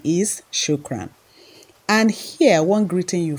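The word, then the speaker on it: شكرًا: r a n but just know that the pronunciation is shukran and here one greeting you find very common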